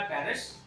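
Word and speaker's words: Paris: है, बट in French, लेकिन फ्रांसीसी भाषा में इसको कहेंगे हम पारी, PARI, पारी। एस क्यों नहीं कहेंगे? क्योंकि एस साइलेंट रहेगा।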